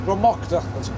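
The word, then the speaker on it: Druimuachdar: Drama. That's how it's pronounced.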